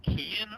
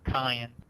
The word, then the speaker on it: Kian: Is your name pronounced Kian or Kyan? Oh, you had it right the first time.